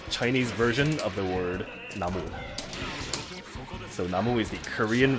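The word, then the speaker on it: 나무: Like in Korean, if you have just the word for tree, it's pronounced mo, which is like the Chinese version of the word namu.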